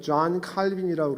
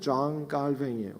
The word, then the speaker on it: 존 칼뱅: 성경이란 무엇인가에 존 칼뱅이라고 얘기했는데 존 칼뱅은 사실은 우리가 더 많이 알기는 존 칼빈이라고 그러는데 그 사람이 스위스의 사람인데 사실은 불어권 지역에 살고 있었어요. 그래서 불란서 발음으로는 존 칼뱅이에요. 그래서 존 칼뱅이라고 얘기하는데 실제로는 그 당시에 존 칼뱅이라고 불렀는데 나중에 영어권에서 존 칼빈이라고 했던 거죠.